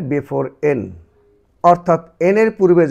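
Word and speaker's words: buffet: বুফে, বুফে, বুফে।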